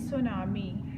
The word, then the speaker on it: tsunami: This word is tsunami. Here T is silent.